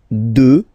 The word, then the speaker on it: deux: Deux. Final x not pronounced, okay.